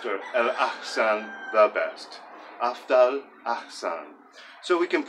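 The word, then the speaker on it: أفضل: And they are afdal, afdal. So we have to be conscious on aftal of how we pronounce that big, thick D, because if we don't pronounce that correctly, they'll make fun of us.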